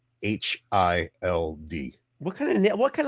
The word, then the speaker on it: Hild: Hild. Hild. Of course. But the amount of times I've been called hiled because it rhymes with wild or mild is it's the the